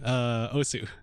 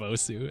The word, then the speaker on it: Osu: The pronunciation of Osu and how it's like os, or like for the longest time the welcome to Os, like announcer voice pronounced it like Os. And like, okay, if your argument is that okay, the original Japanese pronunciation is like os, like the u is like unvoiced or whatever, or like silent, then like okay, you